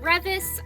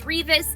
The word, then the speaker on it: Revis: Another book we have is Give the Dark My Love by Beth Revis. I do realize now that I've been pronouncing her last name wrong. I thought it was Revis. It's actually Revis, so that's embarrassing.